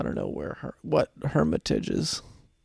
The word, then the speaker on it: Hermitage: messing with me well there's a place in Europe where it's pronounced differently but I think this one is just Hermitage well if you're from